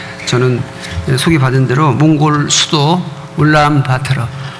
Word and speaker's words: 울란바토르: 저는 소개받은 대로 몽골 수도 울란바토르, 몽골 안 간 사람은 울란바토르 이렇게 발음하고 본토 발음은 울란바토르 이렇게 되는데요.